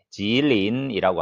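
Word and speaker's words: 吉林: 중국에서 동북 삼성이라고 하면은 어, 길림성, 지린이라고 합니다.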